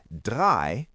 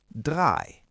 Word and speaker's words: drei: When you see the letters E-I together, they make the sound I. So, E-I is pronounced like the long I sound. Zwei, which means two, has E-I. And drei, which means three, also has E-I.